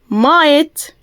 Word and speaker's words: might: لو عندنا اي جي اتش تي في اي كلمة بتتنطق ايه؟ ايت. الجي اتش بتبقى سايلنت، مش بننطقها، اتفقنا؟ زي كلمة blight, flight, might, right, height, fight, sight, light زي ما ظاهر كده معانا، اوكي؟